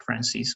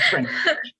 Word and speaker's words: French: I know that you know how to say this one, but you said that word but pronounced in English, but you didn't say French, all right, you said something like Francis or something like that.